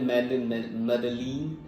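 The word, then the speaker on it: Medellín: थोड़ा सा डिफ री इसको इंग्लिश में बोलते हैं मेलीन और कोलंबिया में इसको बोला जाता है मेन मतलब मैं बता रहा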